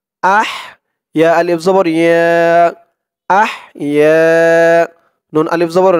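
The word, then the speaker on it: أحيانا: আর রি এখানে একদম পাতলা করতে হবে, নরম করতে হবে দালের উচ্চারণটা, রি। আলহামদুলিল্লাহিল্লাযী। আলহামদুলিল্লাহিল্লাযী হামজা হা জবর আহ আহ ইয়া আলিফ জবর ইয়া আহ ইয়া নুন আলিফ জবর না না এক আলিফ টান ইয়া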